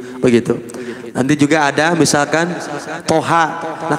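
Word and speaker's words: طه: nanti juga ada misalkan Toha Nah kalau Toha cuma dua harokat kalau Yasin Ia hanya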